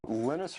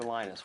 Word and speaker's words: Linus: before and that's when lenus tals came along lenus or Linus what's the exact your preferred pronunciation um when I speak Swedish it's lenus when I speak Finnish it's lenos when I